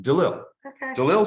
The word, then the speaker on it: DeLille: and the eve yeah I say its name if there was one L it's in between I see it here